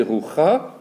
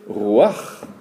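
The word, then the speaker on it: רוּחַ: Et or ici, on ne va pas prononcer rucha, on va prononcer ruach. Assez difficile à prononcer puisque le R, c'est un R, et le chet, c'est pas un R. On entend souvent le R à la place du chet, quoi.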